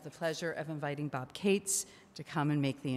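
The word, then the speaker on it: Katz: can do so uh for those i'm bob cates uh k-a-t-z which is the correct pronunciation everybody else gets it wrong and for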